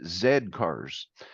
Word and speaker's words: Z Cars: not know that uh over there you pronounce it Zed cars because here uh since